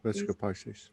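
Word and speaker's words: Vesica Piscis: I always say it wrong, but Venica Pisces, the two Vesica. circles coming to Visca. Yeah. Vesica Pisces.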